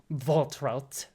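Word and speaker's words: Waltraud: Voltrout. A very German name. And I do have to say it like that.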